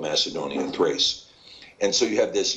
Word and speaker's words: Tiras: of Yafet is called Tiras in the KJV, but it's actually better pronounced Thrace, because of the Tav having a TH sound rather than a Ta sound, Thrace.